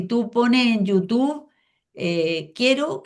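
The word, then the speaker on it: Q'ero: Si tú pones en YouTube, eh, quiero que se escribe Q comillas e r o sin la u, eh, te van a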